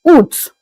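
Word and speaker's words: août: In French August is pronounced as oot.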